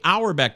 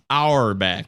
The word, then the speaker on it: Auerbach: on twitter at lk our back that's a u e r b a c our back like a red our back is still the same way it's spelled exactly the